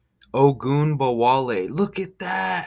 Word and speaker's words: Ogunbowale: It's Ogunbowale. And oh, you get wall. Look at that. How you get wall like Trump wall. Ogunbowale. Look at that. How amazing is that? You get wall. Ogunbowale.